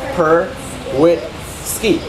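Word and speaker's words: perwitzky: Yeah, so just sound it out, right? Per, wit, ski.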